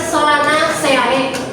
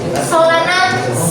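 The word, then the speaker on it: Solanaceae: Famili dari Kentang kan namanya tuh ini bacanya itu bukan Solana sea tapi Solana C.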